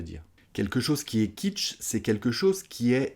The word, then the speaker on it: kitsch: Alors, au niveau de la prononciation, ça se prononce comme une cuisine en anglais, kitchen, sauf qu'on va couper la fin du mot. On va juste dire kitsch.